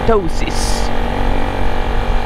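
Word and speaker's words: ptosis: or tinatawag na dosis yung spelling niya silent p t o s i s dosis kaya ganun hindi siya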